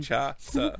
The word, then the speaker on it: Kinshasa: Nakamura goes for the, I do not know how to pronounce, is it the Kinshasa. say that again? Kinshasa.